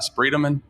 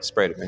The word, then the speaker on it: Spredeman: It's not Spredeman. It's not Spredeman, right? It's Spredeman, yeah.